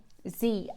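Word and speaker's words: Dzi: D Z I and you pronounce Z I and you pronounce it Z Z ago from Tibet.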